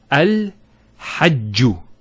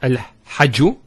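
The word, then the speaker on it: الحج: Also here, al-hajju. It's not al-hajju, it's al-hajju.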